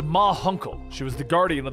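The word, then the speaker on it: Ma Hunkel: her that it was munkel the guardian suddenly appears at around the corner the aging members of the justice society of america step into view it's pronounced ma huncle she was the guardian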